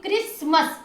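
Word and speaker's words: Christmas: ही के यूज करोगे, आप लिखोगे सी एच, CH, लेकिन साउंड इसको आपने क का देना क्योंकि क्रिसमस, CHRI, क्रिसमस।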